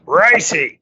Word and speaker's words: Royce: It doesn't say Royce, John. It says Royce. Royce. That's right. You got to pronounce it correctly.